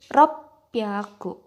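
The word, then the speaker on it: 六百: Jadi 300, 600, dan 800 itu pengucapannya berbeda, bukan hyaku. Jadi kalau 300 itu sambyaku, 600 ropyaku, dan 800 hapyaku.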